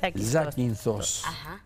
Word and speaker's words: Zakynthos: Zakynthos. Así se pronuncia.